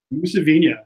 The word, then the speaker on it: Mousavinia: Mousavinia.